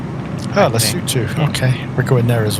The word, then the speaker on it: Lesotho: We're flying Lefosos tomorrow. It's actually pronounced Lesotho. Oh, Lesotho.